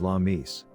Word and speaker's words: Lammas: Lammas's pronunciation is Lammis.